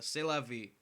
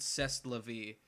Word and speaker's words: C'est la vie: For the longest time, I pronounced it Zest la vie, because there was the tour they went on after this album released was called the Zest la vie tour, because it's their sophomore album.